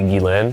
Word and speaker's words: Ghislaine: Is it when Ghislaine, how do you pronounce It's technically Ghislaine. Ghislaine. I know that.